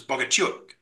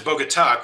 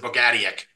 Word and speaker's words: Bogatiuk: from what I've heard, I found a Ukrainian gal that I was at a restaurant I went to, and I asked her, I was like, wait, you're Ukrainian, how would you say this? And she says, Bogatiuk. So I was like, okay. And the funny thing is, my dad and my brother, both pronounce it differently. My dad was Bogatuk, which is his Americanized version, but his brother pronounces it Bogatiuk.